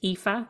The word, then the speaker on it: Aoife: spell my name name it's spelled a o i f e and it's pronounced epha and my surname is